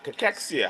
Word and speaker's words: cachexia: So, sarcopenia and cachexia. All right, that's the pronunciation, all right?